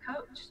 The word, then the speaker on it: Koch: sue coach coach because her last name is pronounced coach ko CH and I